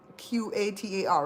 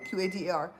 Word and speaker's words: Qatar: Them what they that thing is spelled like a Q, I think it's Qatar, right? Qatar. And back in the olden days we say Qatar, but now in the news they say Qatar.